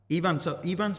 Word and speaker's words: Ifan: Even I'm saying it wrong now. It's Ivan. fine, but again, it's spelled with an F, and unless you know the phonetic Welsh alphabet, you know, that's how you would say it.